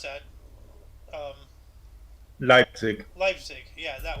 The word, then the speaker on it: Leipzig: same time Fran Schubert's Misa sullenness premiered in leaf speak all right I can't pronounce that um Leipzig Leipzig yeah uh Association fell to Brazilian